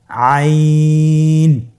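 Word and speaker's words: عين: আইন হরফটি উচ্চারণের সময় অবশ্যই 3 আলিফ টেনে পড়তে হবে এবং আইন হরফটি বারিক হরফ, পাতলা করে পড়তে হবে। আপনারা আমার সাথে বলুন আইন।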